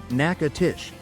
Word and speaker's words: Natchitoches: Pronounced Natchitoches.